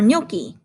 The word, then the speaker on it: gnocchi: But in gnocchi, the G at the front is silent, so we don't pronounce it.